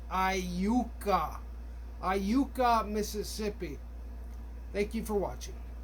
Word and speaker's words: Iuka: And remember, it's pronounced Iuka. Iuka, Mississippi.